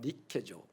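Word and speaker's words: Νίκη: 나이키와 데모스입니다. 나이키가 뭐죠? 원래 발음대로 하면 니케죠.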